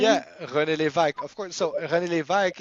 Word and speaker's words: René Lévesque: Yeah, René Lévesque, of course.